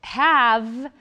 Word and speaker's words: have: Oh, well, have, you don't hear the E. The E is silent, but there's an E there, right?